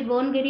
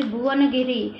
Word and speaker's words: भुवनगिरी: बोनगिरी यानी एक्चुअली भुवनगिरी, भुवनगिरी को ये बोनगिरी बोल के प्रोनाउंस कर सकते हैं।